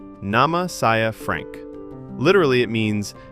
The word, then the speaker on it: Nama: Nama. Nama means name, and it sounds very similar to the English word.